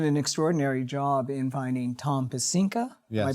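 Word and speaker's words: Tom Pecinka: And you did an extraordinary job in finding Tom pesca. Am I pronouncing that correctly?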